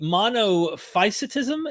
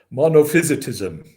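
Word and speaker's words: monophysitism: And I might have a hard time pronouncing this. You can help me here but the monoficetism. Is that how you say it? Monopysism.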